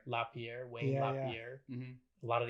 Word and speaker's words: LaPierre: wayne how do you say his last name lapierre lapierre wayne papier a lot of the activities and